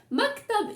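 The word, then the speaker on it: مكتب: up at the end so it has two syllables Mac go muck cup maktab is the place where you write on so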